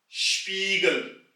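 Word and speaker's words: Spiegel: और टाइप 3 है जैसे कि इंग्लिश में शू, स्पीगल, स्पीगल यानी कि मिरर, शीशा। यहां भी शू वाले श की आवाज निकलेगी।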